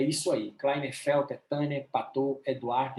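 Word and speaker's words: Patau: A trissomia do 13 é a síndrome de Patou. Se escreve Patal, mas se pronuncia Patou. Tem que ter até o sotaque francês.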